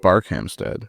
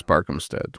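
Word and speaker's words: Barkhamsted: Um I'm going have to go with Barkhamstead which I pronounce Barkhamstead which was wrong. It's Bark Hamstead.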